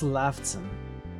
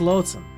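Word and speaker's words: Laughton: movie actress names Charles laughon Char makes sense Charles laughon Lon it's not laugh it's Len okay but just spelled like laugh makes sense so it's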